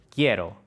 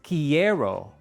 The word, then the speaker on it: quiero: Ahora quiero que escuches la siguiente palabra: quiero. No es quiero con tres sílabas. Quiero, quiero, yo quiero. Tu cerebro intenta separar el sonido qui-e-ro, pero la i es solo una transición rápida.